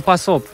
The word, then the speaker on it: pas op: Opas or pas op.